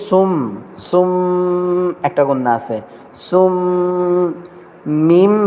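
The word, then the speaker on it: صُمٌّ: এই যে ছোট্ট করে একটা মিম দেওয়া দেখছেন, সুম মুম মুম, এনে বার উচ্চারণ হবে না, সুম মুম, মুন হবে না, মুম হবে, মুম মুম মুম মুম।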